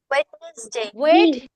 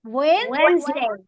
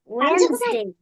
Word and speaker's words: Wednesday: ওয়েডনেসডে Wednesday. বলবো না। ইয়েস, ওয়েডনেসডে বলবো না। আমরা কি বলবো বলেন তো? Wednesday. Wednesday.